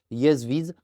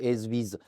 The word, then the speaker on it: Ezviz: constater de la marque yesv je le prononce comme ça si tu veux le prononcer SV euh il y a pas de problème euh le modèle c'est